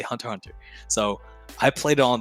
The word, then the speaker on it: Hunter x Hunter: right hunter x hunter the x is silent you don't say hunter x hunter you say hunter hunter so i played it